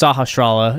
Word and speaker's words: Sahasrara: No, it's just Sahasrara.